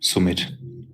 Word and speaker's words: Sumit: it's called sweet but in germany they pronounce everything like it's written sumit anyways i don't really